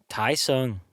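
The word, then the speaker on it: Thai Son: So, again, in no particular order, there's this place called Thai Sung. That's how you say it in Vietnamese, but it's spelled THAI space SON.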